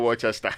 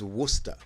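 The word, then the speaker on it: Worcester: take a break eron how would you pronounce this w r c e s t e r how about iter not Wester yeah well not Wester or Wester it's Worster wer all right listen we'll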